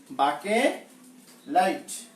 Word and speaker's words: বাকেলাইট: বাকেলাইট উচ্চারণটা একটু অন্যরকম, বাকেলাইট। বাকেলাইট নামগুলি একটু সাথে আমার সাথে মুখস্থ করলে হয়ে যাবে। বাকেলাইট উচ্চারণটা সাথে সাথে পড়তে হবে, বাকেলাইট, ডি না টি।